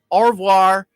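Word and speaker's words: au revoir: say goodbye in french by the way or or war this is only goodbye not farewell in denmark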